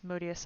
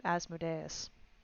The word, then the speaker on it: Modius: can do that so your name is pronounced as modius I kept calling you asmodus I am so sorry